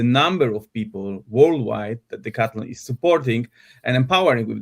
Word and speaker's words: Decathlon: And I'm meeting today Alexander Droukovski from Decathlon or the French way of pronunciation would be Decathlon.